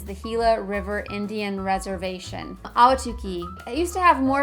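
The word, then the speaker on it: Ahwatukee: direct your attention to auki that's spelled a w no it's not it's spelled a h w a t u k e e tricky Now auki is really more of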